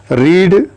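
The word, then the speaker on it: read: meaning बहुत important है रीड के तीनों फार्मैलिटी होते हैं रीड रीड रीड रीड रीड की स्पेलिंग देखिए आ रही है लेकिन पड़ते हैं रेड रेड जाता है ही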